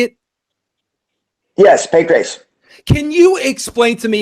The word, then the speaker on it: Pancrase: were responsible for starting starting an organization called Pancrase. Is that how you say it? Yes, Pancrase.